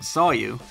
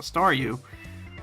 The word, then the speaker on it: Staryu: was still just a Staryu, I could never pronounce its name right. I always ended up sounding like Saw You.